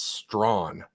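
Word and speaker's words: Strachan: know it's funny because it's spelled s-t-r-a-c-h-a-n and I'm like I don't know how to pronounce that and I saw it it's strong clearly right and I said oh that makes sense right Prince strong is how you would pronounce his name anyway well I don't think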